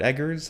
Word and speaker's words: Eggers: 2024, from director Robert Eggers. I think that's how you pronounce his last name. Is that right? Yes. Okay, just checking that, just making sure. It's like he's egging your house, yes.